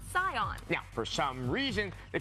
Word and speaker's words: Saiyan: When you Romanize Japanese, something spelled S-A-I-Y-A-N is pronounced Scion.